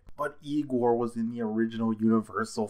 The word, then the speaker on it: Igor: waiting for speaking of Igor I know him best from Young Frankenstein or perhaps is it I gore you must be Igor now it's pronounced I go but they told me